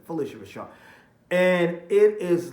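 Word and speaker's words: Phylicia Rashad: great Felicia Rashad and it's like Felicia Rashad right that's how you say her name Felicia Rashad and it is like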